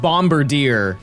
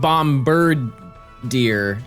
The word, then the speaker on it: Bombardier: Um cuz yeah, it's just it's just bomber deer. Not bombard deer. Bombard deer. But that being said, I don't know why it's called that. I think it's a play on the word brigadeier. Bomber deer is quite literally a word. It's just B O M B A R D I E R.